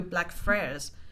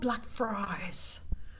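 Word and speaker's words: Blackfriars: said, "Oh, can I buy a ticket to Black Fra?" And they turned to me and they're like, "What? It's called Black Fries."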